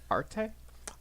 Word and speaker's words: Arte: next we're going to Arte or Arte that's what that's what it says in the Katakana pronunciation so I'm going from that Arte Arte yeah I I